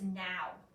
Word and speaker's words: know: touching on the board that actually says now we want it to say no what's the other spelling you can use for that's not an N silent letter K yes k n o